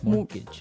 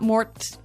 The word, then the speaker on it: mortgage: with a t yeah it has a t in it but you don't pronounce it you say mortgage morgage so not Mort mortgage not morgage morgage